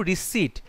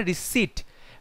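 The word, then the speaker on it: receipt: ভুল হচ্ছে option two রিসিট রিসিট বানানটা হবে আর ই সি ই আই পি টি এখানে পি এর উচ্চারণ হয় না রিসিট রিসিট যেটা আর ই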